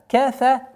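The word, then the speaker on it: كَفَرَ: Илля ман тавалля ва кафар. В данном случае ра твердое произношение у нас кафар.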